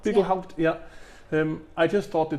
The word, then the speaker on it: Bickelhaupt: So for this one, here in the Bickelhaupt Arboretum, is that how it's pronounced? Yeah, Bickelhaupt. Bickelhaupt, yeah.